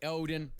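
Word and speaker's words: Óðinn: Odin. Yes. Othin. It's Othin.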